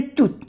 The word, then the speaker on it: toutes: Entonces, de toutes ces fleurs, de toutes, se dice de toutes, no se pronuncia la E y la S que es plural.